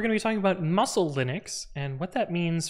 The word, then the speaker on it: musl: it is indeed pronounced muscle uh how do you pronounce this yes pronounced the same as the english words muscle or muscle cool okay